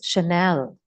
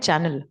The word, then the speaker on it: Chanel: I didn't even knew how to PR pronounce Chanel we used to call it Channel I don't know you